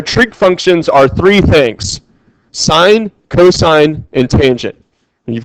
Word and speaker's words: sine: because they're abbreviated as SI n for sine cos for cosine and ta n for tangent but we don't pronounce it as sin we pronounce it as sine okay so sine cosine